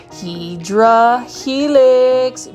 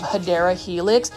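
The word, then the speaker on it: Hedera helix: that are new to this channel I say hedra Helix um intentionally because that's how I used to pronounce it it was really a mispronunciation of hadera Helix thank you to the plant foldy for you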